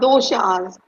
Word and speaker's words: doshas: and for you to explain what the word dasas means because a lot of people have no clue that means and I probably didn't even say it right no you said it perfectly that it's called doas so that is the fundamental difference Carly between